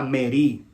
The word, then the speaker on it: merí: La palabra rebelión es la palabra hebrea merí. La palabra rebelión es la palabra hebrea merí, con acento en la I. M-E-R-I acentuada.